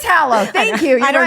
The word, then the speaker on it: Hallow: I think it's pronounced Halo, but You're continue. shit. You're right. Not Hallow. It is Hallow.